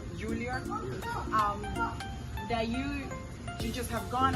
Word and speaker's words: Juilliard: And one of the most prestigious, if not the most, universities in the world, which is Julian. Is that how you say it? Juilliard.